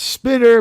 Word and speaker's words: Spiner: I don't know that Spiner is like, first of all, he said that he it's Spinner, but he gave up on trying to convince people.